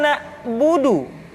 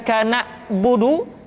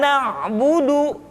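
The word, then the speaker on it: نعبد: Kemudian perhatikan ketika huruf ain disukun, maka suara kita tidak boleh mati. Contoh, iyyaka na'budu, bukan kana budu, tetapi agak ditekan sedikit, kana budu, iyyaka na'budu.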